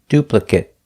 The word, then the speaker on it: duplicate: If it's not a verb, pronounce it it. If it is a verb, pronounce it ate.